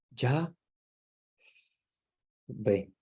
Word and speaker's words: Yahvé: Entonces, pega tanto con esto que nosotros, los católicos, le llamamos ya ve. ¿Ven? Es como el sonido de la respiración. Es como ya ve, ya ve.